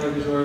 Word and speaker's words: Luxur: So I know that she accidentally mispronounced my name, so I will reintroduce myself. I am Luxor, Luxor, the fruit of born veganism in the flesh